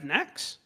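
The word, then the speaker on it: Naxx: in that phase, they're going to have Nax, Snacks. That rhymes with Kara.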